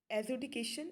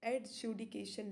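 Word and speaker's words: adjudication: बात करें तो एजुडिकेशन, यहाँ पे आप डी का प्रोनाउंसिएशन नहीं हो रहा है, क्योंकि डी और जे, जब ऐसा बहुत बार होता है कि एक साथ आते हैं तो सिर्फ जे का ही प्रोनाउंसिएशन किया जाता है, तो यहाँ पे एडजुडिकेशन ना पढ़ के एजुडिकेशन ही पढ़ा जाएगा।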